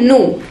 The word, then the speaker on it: nu: This is not V, ये V नहीं है, ये ग्रीक लेटर है और इसको हम कैसे प्रोनाउंस करते हैं? नू. NU, नू. तो इसको नू प्रोनाउंस करते हैं और ये ग्रीक लेटर है.